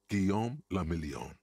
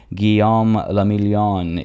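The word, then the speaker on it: Guillaume Le Million: meant only one thing guillaume lamillion that's an excellent name rather shawl and if it doesn't rhyme you're not pronouncing it right again because our drama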